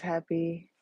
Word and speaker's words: Hapi: There's Happy. If you look him up, you'll see that he's an Egyptian god. It's spelled Hapi.